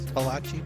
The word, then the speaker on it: Palachi: Palachi? Palachi. You gotta say it like you're in the She mafia.